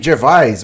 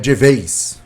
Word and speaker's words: Gervais: Eu falei Gervais, mas é Gervais, se pronuncia mais ou menos assim.